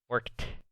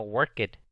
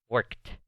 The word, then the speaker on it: worked: Esta palabra, la D al último, se pronuncia como una T. Es casi como que este verbo se pronuncia así, worked. Y así está bien, así es como se pronuncia. No worked, se pronuncia worked.